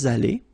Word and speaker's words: allés: Nous sommes allés. You don't pronounce it. Okay, but you write it.